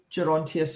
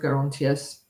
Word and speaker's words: Gerontius: And it's the Dream of Gerontius, or Gerontius, pronunciations vary.